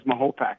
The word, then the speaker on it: Mahopac: It was a 3-2 vote, but it won over by the town board by vote that it would be referred to as Mahopac.